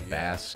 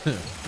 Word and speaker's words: Bass: Is it Bass or Bass? I mean, I'm thinking music. I'm sure. It's like if his dog is named Treble, then Rock his name Man is Bass. Oh, what the? Pronounced Bass. I like, don't know. Music. Like, I don't know if they're all, yeah, rock and roll, so he's probably just Bass.